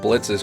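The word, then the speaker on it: Blitzø: Now, Blitz the O is Silent has more depth than almost any other character in this entire show, and boy howdy is he traumatized.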